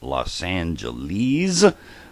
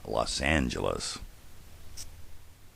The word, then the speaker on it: Los Angeles: Well, the reason for that is in 1953, the City Council voted to standardize the pronunciation, and if you think about it, none of them actually would have been predictable. It became Los Angeles.